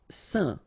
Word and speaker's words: saint: Saint. Alright, so final T not pronounced, and then when you combine this A-I-N here, you get the un sound.